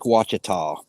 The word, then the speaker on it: Ouachita: so late and help pronounce this for me Ouachita is that how it's pronounced yeah and you missed an a o-u-a-c-h-i-t-a yeah like Lake wachita right there in the middle of Arkansas it's